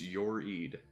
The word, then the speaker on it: YoReid: exist it is yes it is pronounced your Eid why do you want